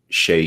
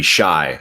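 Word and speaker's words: Shai: And then yesterday, I mentioned this on podcast today, but yesterday's podcast, I mentioned Shea Gilgeous-Alexander's name wrong, or it might be Shy.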